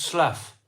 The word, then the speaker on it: Slough: It's pronounced Slough.